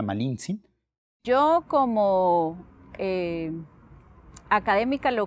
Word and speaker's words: Malintzin: Yasna de Aguilar, que lo más justo es referirse a ella en Nawatl, que es finalmente el nombre mesoamericano que tuvo, ¿no? Y era una mujer mesoamericana. Entonces, yo creo que lo más correcto es llamarla Malincin.